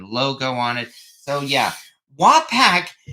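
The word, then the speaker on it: Wapak: of of the uh wack Foundry and I think I'm finally pronouncing wack correctly after all these years I was calling it wapac or whac but apparently it's more like wac I mean you can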